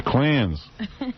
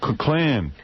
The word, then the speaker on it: Klan: The clans. The Klan.